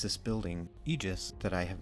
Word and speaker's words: Aegis: a lot of damage this card is apparently pronounced Aegis at least that's what Google tells me I've always been saying Aegis or Aegis but you just I